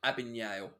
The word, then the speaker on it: Abagnale: yeah i'm pretty good is it pronounced abagnale or abigale it's abignale okay uh the chat